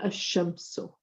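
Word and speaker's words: الشمس: So as we saw in the previous slide, we'll say ash-shamsu. We won't say the lam, we say ash-shamsu. So directly merging the alif with the third letter.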